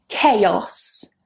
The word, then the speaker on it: chaos: Chaos. Chaos. Chaos, not chaos. Don't be influenced by the spelling here.